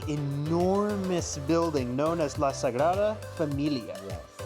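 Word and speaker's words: Sagrada Família: to this absolutely enormous building known as La Sagra Familia.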